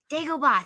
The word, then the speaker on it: Dagobah: a little Yoda one in the I always pronounce this in the dog bro. How do you say it? His little Dagobah. like Dagobah.